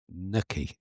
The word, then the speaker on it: Nacki: I'm led to believe actually the pronunciation of his name is uh, Nucky. Naki. Nikki. It's not Naki. I've always thought it was that.